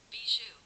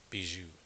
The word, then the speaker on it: Bijou: All right, B C B I J U N pronunciation. Bijou. Bijou.